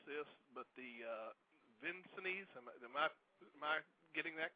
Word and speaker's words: Vincennes: Air Force Academy, Indiana State University, and forgive me if I mispronounce this, but the Vincennes, am I getting that correct? It's Vincennes.